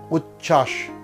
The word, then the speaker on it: উচ্ছ্বাস: আবার বলছি যুক্ত ব্যঞ্জনবর্ণে যদি বফলা যুক্ত হয় তাহলে সেই বয়ের উচ্চারণ থাকে না। যেমন সান্ত্বনা, সান্ত্বনা, সান্ত্বনা। দ্বন্দ্ব, দ্বন্দ্ব। উজ্জ্বল, উজ্জ্বল, উজ্জ্বল। তত্ত্ব, তত্ত্ব। উচ্ছ্বাস, উচ্ছ্বাস।